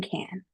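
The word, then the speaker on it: Cannes: So please note that our tour begins in Nice and ends in can. And yes, the S is silent.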